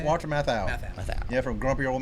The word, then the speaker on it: Walter Matthau: Walter Matthau.